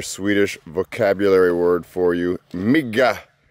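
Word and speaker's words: mygga: Migga. That is mosquito. That's how you say it.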